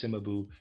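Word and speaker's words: Cimabue: Readers aside, I am pronouncing Simabu. C I M A B U E.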